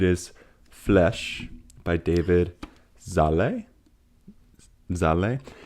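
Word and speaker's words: Szalay: Zale. It's spelled S Z A L A A Y. And I always want to say Sizzle.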